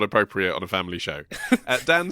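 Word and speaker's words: dah: da is how you say the long...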